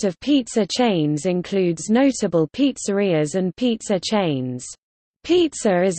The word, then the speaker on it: pizzeria: A restaurant or takeout where pizzas are made and sold as main food is called a pizzeria, Italian pronunciation, pizzeria, or simply pizza parlor in English.